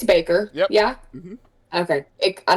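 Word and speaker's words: Bakker: It's Baker, Yep.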